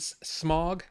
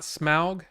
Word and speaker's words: Smaug: You're pronouncing it smog, not smaug.